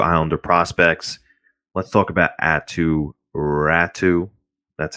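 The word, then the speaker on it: Aatu Räty: circling back to islander prospects let's talk about atu rattu that's how it's pronounced by the way atu ratsu not ratty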